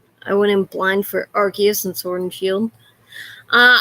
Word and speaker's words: Arceus: in semi blind for legends arceus or as we pronounce it here are cous i feel like that